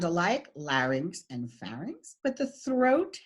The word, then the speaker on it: larynx: the scientific term is larynx and the correct pronunciation is larynx Like Larry not larnix which is a mispronunciation in this region nasal cavity okay so